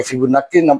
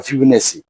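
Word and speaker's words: Fibonacci: number এখন বর্তমানে যে অষ্টম শ্রেণীর প্যাটার ওখানেটাকে ফিবুনাকি সংখ্যা নামে এটাকে লিখিত হয়েছেফিনাকি যেহেতু বাংলা এখানে তোমার ব ফিনাকি আছে ফিবনেও পড়তে পারো কিন্তু আমাদের উচ্চারণ ইংলিশে এটা উচ্চারণটা হয় ফিবনেসি আমি এখানে এই ফিবুনেসি ইংলিশ উচ্চারণটাও লিখেছি আর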